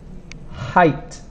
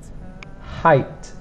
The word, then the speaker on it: height: have e i and this g h we don't really pronounce height engage this you